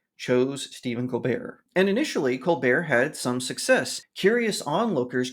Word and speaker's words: Colbert: His name is spelled Colbert. I don't know why he just doesn't call himself Colbert, but it's Colbear.